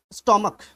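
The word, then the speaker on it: stomach: इस जगह पे देखिए स्टोमक, अब इसे स्टोमच नहीं पढ़ दीजिएगा, स्टोमक यानी कि पेट होता है। ठीक है। और इस सी एच की जो मीनिंग आ रही है, यानी कि जो प्रोनाउंसिएशन आ रही है वो का आ रही है, ना कि चा आ रही है।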